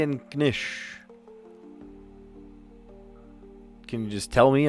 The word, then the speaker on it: knish: Do you pronounce the K in knish?